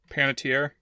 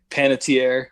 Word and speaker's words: Panettiere: how do you say his last name again panettiere panettiere was so he would have been a little